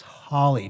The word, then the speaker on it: Holly: and by the way i think it's holly triangle not holy triangle thanks for the correction